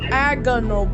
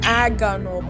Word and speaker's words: agonal: of the problems with breathing it's called Aon agonal breathing that's how it's pronounced mom agonal breathing okay well so there were like real